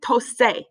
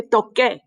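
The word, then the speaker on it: toqué: And if we spelt it like this, if we just did it like a regular AR verb, you would pronounce it tose, tose. But we want to say toque, toque. So that C changes to QU in the yo form.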